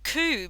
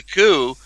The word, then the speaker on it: coup: search on it, and it's spelled COUP with the silent P, and I took a screenshot, which I'm just Hmm.